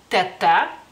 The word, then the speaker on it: teta: palabra no más que decimos tata O sea la la es más abierta y la y el acento cae sobre la y quiere decir tía este